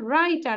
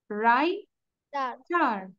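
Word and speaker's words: writer: then he ইজ আ রাইটার তাহলে ডব্লিউ এর উচ্চারণ করবো নো কি হবে রাইটার রাইটার don't pronounce W বাট you have to রাইট down W good আচ্ছা তারপর বেকার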